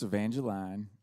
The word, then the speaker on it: Evangeline: think maybe but it i know it's evangeline but i needed it to rhyme with queen real bad so i changed it